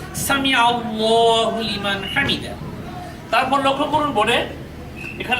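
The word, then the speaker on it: سمع الله لمن حمده: অনেকে অনেকে বলে থাকি সামি আল্লাহু লিমান হামিদা কিন্তু এই উচ্চারণটা সঠিক নয় যেহেতু আল্লাহ শব্দের দ্বিতীয় লামের আগে আইনের উপরে জবর এসেছে এজন্য এখানে লাম খা জবর ল হবে সামি আল্লাহু লিমান হামিদা তারপর লক্ষ্য করুন বোর্ডে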